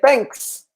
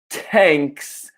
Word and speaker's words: thanks: can say thank you we can also say thanks okay the important thing here is just the pronunciation so it's not tanks or thank you because in English tank is